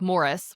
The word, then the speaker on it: Maurice: Yeah, I think you would really like Morris, which is spelled like Maurice, but they say Morris because they're British.